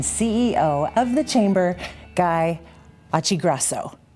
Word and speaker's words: Occhiogrosso: of the chamber, Guy Occhiogrosso, right? Yeah. Is that how you say it? It's how I say it. If I were in Italy, it's not how I would say it.